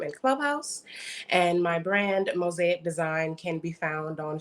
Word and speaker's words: MOSAIQ: And my brand, Mosaic Design, spelled with a Q. So that's MOSAIQ. Mosaic Design and all of